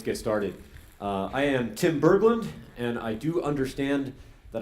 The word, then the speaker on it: Berglund: I do understand that I don't pronounce that correctly. I have received some coaching. I'm told it should be something more like Berglund. Is that decent? Okay, there's not a complete consensus. It sort of depends who I ask. Sometimes the G comes out a little harder, but I say